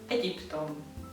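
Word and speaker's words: Egyiptom: Egyptom. Egyptom. Yeah, so the G and the Y that you say like G in English, it's a J sound.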